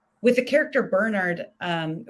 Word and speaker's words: Bernard: like with the character bernard um which i'll pronounce because he's british and like the british way because i think bernard is like that's a different name uh there's a character